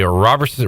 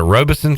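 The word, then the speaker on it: Robeson: land mass I believe and you are incorrect that would be Robertson Rob Robison are you sure that's not population nor uh is it Robison county is how you say it Robinson Robison has 9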